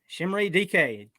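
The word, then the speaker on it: Chimere Dike: Shimray DK. Don't say it like it looks. You would be wrong. You would be very wrong.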